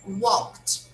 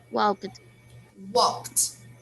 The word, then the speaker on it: walked: help you here uh this verb here walt we should pronounce with a final t sound so say again walked walked yes you should really use a t sound when you pronounce this verb okay so we quietly